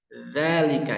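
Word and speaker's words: ذَٰلِكَ: Zalika ya, tipis bukan za, beda. Kalau za itu tebal, ini tipis. Za.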